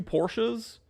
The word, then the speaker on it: Porsche: you know abbreviation so like I have two Porsches sometimes I'm like yo hop in the Porsche